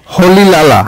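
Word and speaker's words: Rolihlahla: এয়ারে এটার উচ্চারণটা হচ্ছে হলি লালা।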